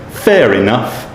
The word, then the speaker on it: fair enough: at the end, but because the word enough starts with a vowel, it's pronounced this time. So, fair enough, it's only for one night.